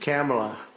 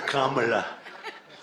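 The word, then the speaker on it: Kamla: It's Cam, right? Cam as opposed to Com.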